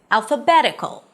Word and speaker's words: alphabetical: Let's take the suffix -k'l, as in alphabetical. The suffix is -k'l, Primary stress, one syllable before the suffix.